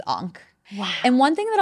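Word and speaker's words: ankh: A n k h is onk.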